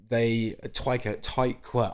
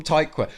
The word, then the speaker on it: Tykwer: So Twyker. I always pronounce that wrong, and I curse myself every time. Tricky name. Twyker. Tom Tykwer.